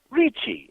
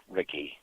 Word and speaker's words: Ricci: But when I go into restaurants, Italian restaurants, or even Asian restaurants, they say Ricci, and they pronounce it correctly. But it was easier to go with just Ricky.